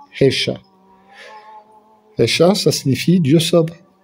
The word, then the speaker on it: Yeshua: Puisque Jésus, c'est la latinisation de l'hébreu Yeshua, qu'on prononce en hébreu, Hesha.